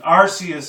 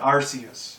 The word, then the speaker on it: Arceus: i always called it arceus you know because it's a c not a k you know maybe in